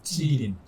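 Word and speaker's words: 吉林: 근데 이름은 지금도 계림을 한 중국식으로 발음하면 찌린입니다. 찌린.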